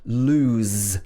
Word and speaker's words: lose: Sometimes the word doesn't end in the letter Z, but it's pronounced Z. For example, lose is S-E, but we say lose.